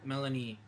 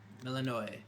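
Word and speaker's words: Melinoë: a a line that I remember hearing where Melanie is talking to um Oh god, don't call her that. Sorry. Melanino. Melanino.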